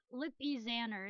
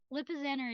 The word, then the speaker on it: Lipizzaner: ER is that or lippies an ER but I don't know how to pronounce it because I also sometimes hear it pronounced different ways to which i think is one of the reasons why i'm never sure what like the right way to say it is Lipizzaner is usually how I say it but then